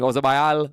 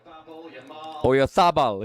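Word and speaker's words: Oyarzabal: So we're seeing Ozabayal, Olmo, Yamal. Oyarzábal, if you want to pronounce it correctly.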